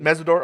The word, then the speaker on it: Mesidor: Mesidor.